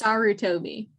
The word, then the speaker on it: Sarutobi: It's Sarutobi.